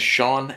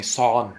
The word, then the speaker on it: Sean: Sean and people call me son my mother-in-law calls me son and she literally writes s-o-n which is the Vietnamese pronunciation uh like writing for my name because it doesn't exist in Vietnamese letters to pronounce my name so they would pronounce it son and so but it's interesting because that's not my name you know and so